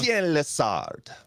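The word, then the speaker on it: Étienne Lessard: Etienne Lessard.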